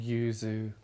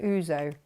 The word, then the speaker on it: yuzu: you found now oh yuzu oh that's that's yeah i keep mispronouncing that oozo that's a whole other